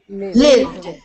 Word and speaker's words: lived: Lived. Live. Lived. Live. Lived. Lived. Lived. Lived. Try not to pronounce the E. Lived.